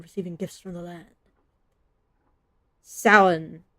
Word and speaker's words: Samhain: Samhain. I know that you're not supposed to pronounce all the letters in that.